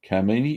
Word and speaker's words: Kamini: Kamini, yeah, that's how you say it.